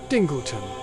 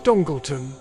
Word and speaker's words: Dingleton: Our story begins in the small village of Dingleton, which is pronounced Dingleton, not Dongleton, and is surrounded by bleak moors and stormy seas and even bleeer prospects.